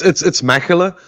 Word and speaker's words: Mechelen: I believe it's Mechelen. Yeah, Is it yeah. not? How did I do, Frederick? Very well. It's Mechelen, but you did that very well.